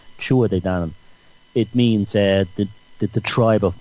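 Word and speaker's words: Tuatha Dé Danann: They call it the Tuatha De Danann. It's not pronounced like that at all. It's pronounced the Tuatha De Danann. like chua, like chewing something, de Danann, chua de Danann.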